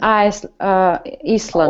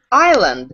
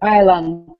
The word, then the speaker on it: island: An Iceland. Oh, be careful. No. How to say correctly? Island. Island. Yes, we don't pronounce S.